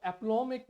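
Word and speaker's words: aplomb: with equal aplom नौ aplomic word क्या है अभी अपनों में नाउन है applom प्रनंसीएशन applom साइलेंट है aplom एक नाउन है जिसका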